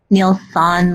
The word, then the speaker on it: Nielsen: It's actually S-O-N. Nielsen, like not a daughter, but a son. Sorry. Like a son.